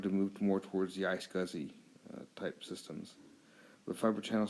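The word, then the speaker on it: iSCSI: switch and that became a storage area network I scuzzy or the internet small computer systems interface also is pronounced I scuzzy uses the Ethernet network as this data transfer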